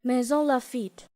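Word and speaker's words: Maisons-Laffitte: I'm gonna put that, and then I'm gonna put the actual saying of how to pronounce it. Maison Lafitte.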